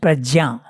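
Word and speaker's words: prajñā: By the way, just one small detail, in Sanskrit you pronounce ja. Okay? In our Indian language we say prajna. But because it's a ja, not a ga. So, this we were taught by Vedalankar, Jagannath ji. He was a Vedalankar and he was an expert in Sanskrit. He told us that this is pronounced prajna.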